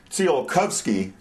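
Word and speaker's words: Tsiolkovsky: Then there was this uh Russian guy Seal Cubs. As far as I can tell, the correct pronunciation is Tio Kovsky.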